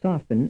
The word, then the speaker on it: soften: mean statement B A the T in the word soften is silent B the letter T in the word soften represents no sound frame 36 in statement